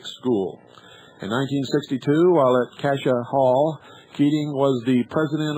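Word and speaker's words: Cascia: Raised as a strict Roman Catholic, Keating was graduated from Cassia Hall High School, pronounced Cassia, an all-male private Catholic school. In 1962, while at Cassia Hall, Keating was the president of the student council.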